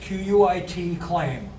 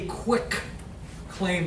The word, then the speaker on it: quitclaim: But not a quick claim deed like a lot of, most people say that really don't know. It's quit, Q-U-I-T, claim.